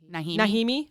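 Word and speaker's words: Najimy: name it's n a j i m y nimi okay all right there we go everyone in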